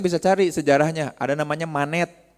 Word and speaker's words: Manet: Maka ada orang-orang nanti Akang Teteh bisa cari sejarahnya ada namanya manet. Dibacanya gimana ya? Mane monet sama Renoar. Renoar itu renoir ya nulisnya itu.